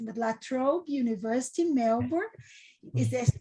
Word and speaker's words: La Trobe: Before this, he taught at the Sydney University and I don't know if I'll pronounce correct, but La Trobe University, Melbourne.